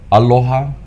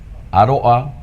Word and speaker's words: Aloha: Aloha, Aloa, Oa or Aloa, Aloa. And the different ways that that this word um is pronounced.